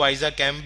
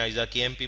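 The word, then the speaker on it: ISAKMP: इसको आइजा कैम्प भी प्रोनाउंस करते हैं, आइजा केएमपी भी करते हैं।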